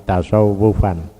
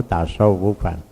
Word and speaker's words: tasawuf: menjadi tasawafa ya tasawafu tasawufan cuma kita membacanya tidak SH tapi Sin t tasa tasawuf gitu mestinya tasawuf dari kata Safa makanya